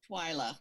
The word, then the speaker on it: Twyla: All right, I don't want to say your name wrong. Twyla, right? Twyla, yes, Just it's making Welsh.